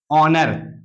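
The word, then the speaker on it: honour: जैसे यहां लिखा है ओ के पहले एच है तो इसको हम पढ़ते हैं क्या ऑनर इसको क्या पढ़ते हैं ऑनर इसको देखेंगे यहां एओ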